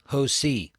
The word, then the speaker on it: Hosea: And one of those is Hosi. Hosi. It's spelled like a C, like Hose. Oo.